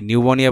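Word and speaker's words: pneumonia: দেবে তারপরে যেমন কি নিউমোনিয়া বানান দিবে সেটা পি দিয়ে শুরু হয় নিউমোনিয়া ঠিক আছে নিউমোনিয়া যেমন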